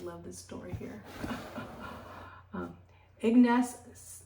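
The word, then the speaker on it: Ignaz: this story here um Ignace um egg knots that's how you say it zemovies so um was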